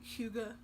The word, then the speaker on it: hygge: huija which it sounds like hi but it's pronounced Hyuga it's the Danish Norwegian concept of there's no